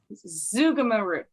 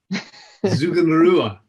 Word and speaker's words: Zugunruhe: Scott McWilliams, and we are talking about Zugunrhe. Did I say it right? Zugunruhe. Zugunrhe. I didn't say it right, did I?